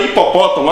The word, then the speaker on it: hipopótamo: A palavra hipopótamo acontece a mesma coisa, gente. Tem 10 letras. Mas esse H lá no início não faz diferença nenhuma se tu retirá-lo na escrita.